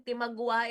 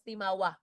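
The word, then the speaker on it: timawa: Hindi yan timagua. It's only written as timagua but pronounced as tima and the alipin.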